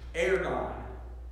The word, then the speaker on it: ergon: This word in the original Greek is, I'll say it wrong, but it's ergon. Ergon, and it means business.